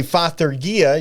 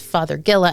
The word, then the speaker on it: Fothergilla: And the reason that it is Fothergilla and not Fothergilla is because it is named after one Dr. Fothergill from England. There we go. So So usually what I try to do when I'm pronouncing a plant is to take that root word and use that in the pronunciation. So it's Fothergill, named after Dr. Fothergill, with an A at the end to make it, Latin.